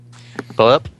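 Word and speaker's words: Puyallup: Pull-up, or however that's pronounced. Polyup, yep, the way you pronounce it is fine.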